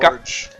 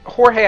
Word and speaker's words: Jorge: Okay, my name's Jorge, right? And it's spelled J-O-R-G-E. But It's not I have George. Huh? It's not George. No. It's not even that I get George. I've gone Gorge. I gone Horgi. I gone Gorg.